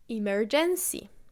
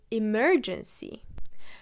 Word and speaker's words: emergency: The stress of the syllables works very differently in many languages. For example, Polish people say it as emergency or emergency, while you should really say emergency.